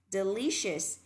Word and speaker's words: delicious: Delicious, delicious, delicious. Và từ này nhớ là âm sờ nặng, sợt là sai, và đọc là shers mới đúng ạ, shers.